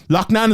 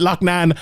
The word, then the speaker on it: Loughnane: massive fight for Loughnane, and sorry if I pronounce it differently. Loughnane is from like my part of the world here, and they call it Loughnane in England, but I'm going to continue to call it Loughnane because that's how you pronounce it.